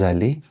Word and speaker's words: allés: Now, if we are all masculine or we are mixed, I need to add an S, okay? It doesn't change the pronunciation. Nous sommes allés, we went.